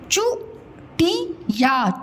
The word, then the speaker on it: चुटिया: चू ही या चूहिया, चू टी या चुटिया। देखो उच्चारण में समय कम लग रहा है, चू टी या, ठीक है, चू टी या चुटिया।